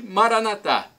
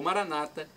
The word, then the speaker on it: Maranatá: E Maranatá, como dizemos nós católicos, ou Maranata, como dizem nossos irmãos separados, os evangélicos ou protestantes. Não tem problema a respeito da pronúncia, porque o significado é o mesmo.